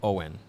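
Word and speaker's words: Owyn: but but also by owen and no it's not owen power it is spelled o w y n and what is it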